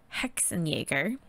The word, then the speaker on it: Hexenjäger: So first of all, H&G Hexenjäger is how that would be pronounced, or something akin to that. For sure the J would be the Hexenjäger.